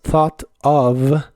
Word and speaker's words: thought of: de la v a cuando juntas las palabras thought of en especial en inglés americano se suele pronunciar la última t como r y suena más fluido thought of thought of that thought of that el